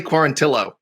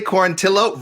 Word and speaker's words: Quarantillo: okay you billy billy quarantillo i'm sorry he pronounces his name wrong too billy corantillo ryan benoit ryan benoit hey